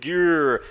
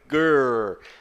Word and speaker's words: girl: Você não diz girl, é girl. Girl. O R e o L é como se fosse um R um pouco mais caipira lá do interior com um L no final.